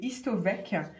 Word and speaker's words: Histovec: Autre sujet, autre info du jour, c'est Histovec. Oui, j'ai bien prononcé, H-I-S-T-O-V-E-C, retenez ce nom.